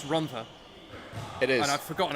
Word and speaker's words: Rhondda: I want to point out, in terms of the pronunciation of people's names, I'm 99% sure it's Rhondda.